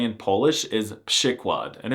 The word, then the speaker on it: przykład: A pronunciation that does not at all correspond to how it's written, przykład.